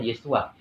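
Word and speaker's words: ישוע: awalnya bahasa mula-mulanya kan nama Yesus itu yesua ya Ada tulisan ibraninya dibacanya yesua Nah jadi ada ada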